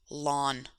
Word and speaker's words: ln: button on your calculator it's written as ln and pronounced lawn it looks like an